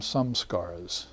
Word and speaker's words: samskara: And this previous existence also came from samskaras. Sankalp samskar, as the Hindus would pronounce it. They'll leave off the A off of everything, some of them.